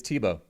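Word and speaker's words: Thibaut: It's Tibo. You don't say the T at the end in France.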